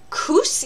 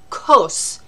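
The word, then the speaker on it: כוס: Kus in Hebrew, very different meaning. Had a Hebrew teacher get very upset with my class who was mispronouncing kos. Well, possibly symbolically similar, but very different. So kos is cup.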